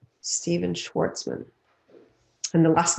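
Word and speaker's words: Schwarzman: more often right the next person is stephen schwartzman steven schwartzman and the last name is spelt s c s-c-h-w-a-r-z-m-a-n now he's a founder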